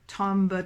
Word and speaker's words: tombe: I will say briefly right here that even though in speaking you say la neige tombe, you don't really give it 2 syllables, but in singing, when it's matched up with syllables and notes, you do actually have an audible syllable for tombe, tombe, tombe.